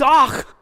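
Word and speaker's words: אח: This is one of the simplest and easiest Hebrew words to pronounce, so somebody do this one for me. Exactly. It's ach.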